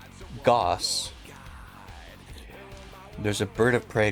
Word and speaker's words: Gauss: Is it pronounced Gaus like it's spelled or gas? It's pronounced like moss. Goss.